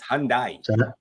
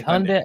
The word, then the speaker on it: Hyundai: I'd do first Hyundai it's Hyundai Hyundai Hyundai say it right sorry I had one and someone had it once it's like it's actually Hyundai people just say Honda is Hyundai still a